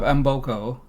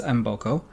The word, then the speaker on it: Mboko: Speaking of Embokco, by the way, that's how she says her last name on the WTA site, so that's how we will say it. I've heard many different pronunciations, but Vicki says Embokco.